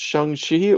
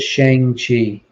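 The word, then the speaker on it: Shang-Chi: we could debate like is it pronounced shangshi or shang chi it is shang chi i know you say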